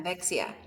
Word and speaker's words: Evexia: Um, yeah, so and then now you have this, how do you pronounce it? Evexia? Evexia. Yes. Yeah. Evexia.